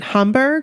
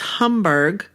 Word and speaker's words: Hamburg: do you pronounce that is it humber I think it's Homburg yes well I was